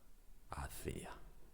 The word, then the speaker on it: hacía: Number two, hacia, hacia. Hacia is a preposition which means something like towards. Hacia is a past tense from the verb hacer, to do or to make.